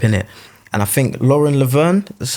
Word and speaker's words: Lauren Laverne: And I think Lauren Laverne, that's how you say her name?